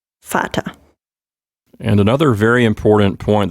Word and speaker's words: Vater: yes this one is fata you see the resemblance to the english word father so when you have a v it is in the germanic words it is pronounced like an f sometimes you may have